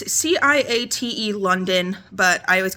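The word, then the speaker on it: Ciaté: I say this brand name wrong all the time. I always call it Kate. It's Ciate London, but I always call it Kate, whatever.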